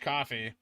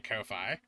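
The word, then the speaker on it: Ko-fi: 25 minutes Kofi yeah apparently it's pronounced coffee so I've been trying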